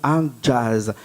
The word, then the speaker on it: Hajazz: Hein, et quand on dit ton nom, Adjaz, et tu m'as dit tout à l'heure que j'écris Adjaz, H-A, après jazz, ça s'écrit comme du jazz.